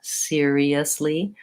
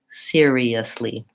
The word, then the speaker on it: seriously: really slowly to get all of the sounds seriously then that's a good way to kind of